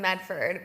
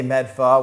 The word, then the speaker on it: Medford: He grew up in Medford, but It's pronounced Medford. Medford. I'm from Medford. Yeah. Medford. A lot of people say Medfa, which is so That's even inaccurate.